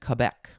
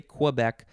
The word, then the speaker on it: Quebec: the splashboard used in Quebec. That is, I would normally say Quebec, but I think it's officially pronounced Quebec.